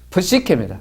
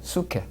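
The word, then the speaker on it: ψυχή: 소울 프시케입니다. 수케. 프는 발음 안 돼도 괜찮아요. 약한 음입니다. 약음입니다. 프시케인데요.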